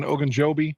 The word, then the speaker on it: Ogunjobi: Ogunjobi?